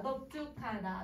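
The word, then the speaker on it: 넓죽하다: 그래서 지금 선생님 발음해보면 다 넙둥글다, 넙죽하다, 넓적하다 다 비읍으로 발음을 해.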